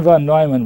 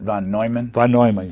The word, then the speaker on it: von Neumann: went through cal tech got educated here john von neumann was a brilliant mathematician and mathematical physicists with